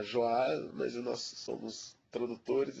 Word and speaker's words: Joal: poema se chama joal eu pronuncio o nome nome da cidade é joal o sengor pronunciará joal Mas nós somos tradutores